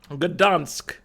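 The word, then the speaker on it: Gdańsk: Gdansk. I think I've always been pronouncing this one mostly correctly.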